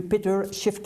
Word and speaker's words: Peter Schiefke: nous recevons le député de vaudreuil soulanges monsieur péter shift et bonjour bonjour est ce que j'ai pu prononcer votre nom très bien merci banquier d'origine